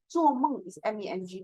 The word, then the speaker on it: 梦: Or O and E, like 做梦 is MENG, but some students will pronounce that 做梦 or 风很大 the wind is strong.